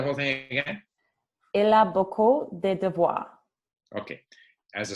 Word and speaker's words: beaucoup: Beaucoup is a very common word. Mucho, okay? Shows up all the time. Never, ever pronounce the P.